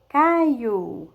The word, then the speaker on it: Caio: Olha só, Caio, né? Pronuncie direitinho. Caio é escrito com O, mas quando nós falamos, parece que é com U.